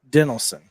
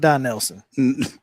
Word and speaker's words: Dinelson: Now it's Dinelson. Not Don Nelson. No, Dinelson.